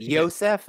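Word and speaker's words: Iosef: yeah just how awful he is is it Yosef is that how you say it f yeah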